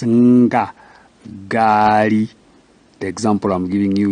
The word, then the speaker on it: ngaari: And when it is used for letter G, the sound becomes harder than the first one where there was no N. You remember guka. Now it's nga, gari.